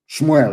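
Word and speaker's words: שמואל: Let me tell you what Samuel said. Shmuel, of course, correct pronunciation.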